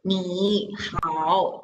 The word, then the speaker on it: 你好: Okay, so then when we say hi to someone, we are not reading 你好 because that is too difficult to pronounce. So we change the first word into second tone.